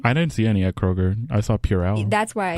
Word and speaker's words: Kroger: Walgreens where but Kroger's is it Kroger's or Kroger it's Kroger but everybody says Kroger's Prager's the placebo effect